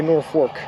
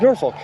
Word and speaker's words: Norfolk: uh locals say North Fork it's Norfolk Norfolk Scotland has a town